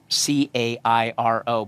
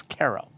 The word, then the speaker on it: Cairo: uh called Kero as in um C A I R O, but you didn't call it Kairo and you didn't call it Cairo. It's KO.